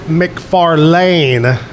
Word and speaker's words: McFarlane: Coming up in, probably about 12, 13, 14 minutes, Brennon, you pronounce it McFarlane, Brennon McFarlane's going to be here to entertain us with music in the 9 o'clock hour.